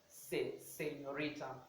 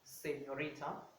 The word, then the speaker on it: señorita: So I'm going to say señorita, se, but not se, señorita, señorita.